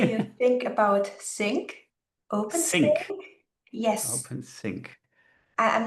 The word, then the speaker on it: Cyc: Sync. Yes. OpenSync. I'm not really sure how to pronounce it. CYC.